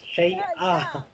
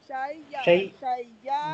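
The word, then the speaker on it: شيئًا: This is not China, this is Shay'a. Shay'a. Shay'a nitta haza. Correct. Again. Nitta haza. Again? No. Shay'a nitta haza. This is not China. Listen. Yes, Shay'a. Shay'a.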